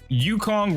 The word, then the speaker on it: Yukong: moral of the story Yukon rhymes with Donkey Kong guys if you enjoyed